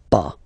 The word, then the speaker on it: pas: have to put this pas. Okay, so first ne, then the verb, and after that, pas. Okay, we write it PAS, okay, but as usual, final S is not pronounced, so it's pas.